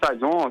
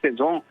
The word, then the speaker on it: Saison: A gente fala Saison, a gente fala Saison. Esse é um estilo de cerveja de origem belga, também hoje fabricado em qualquer lugar, desde que siga a receita. Essa Saison também vai muito bem com bacalhau.